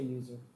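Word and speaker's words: usr: This actually stands for Unix System Resources, but we always say user.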